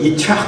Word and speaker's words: 이삭: 이삭. 예, 이스라엘에서는 그걸 이착 이렇게 발음하더라고요. 이삭. 우리식으로는 이삭입니다.